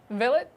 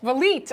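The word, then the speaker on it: Vliet: Villet, is that how you pronounce it? Valite.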